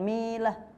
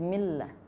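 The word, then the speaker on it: بسم الله: Ini juga millah, bukan milah, tapi millah. Oke.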